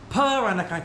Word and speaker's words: Peranakan: I live here and I come from the very unique culture in Singapore called the Peranakan culture. It's spelled P E R A N A K A N.